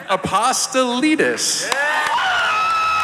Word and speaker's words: Apostolides: in Resident Evil, the one and only Nick Apostolides.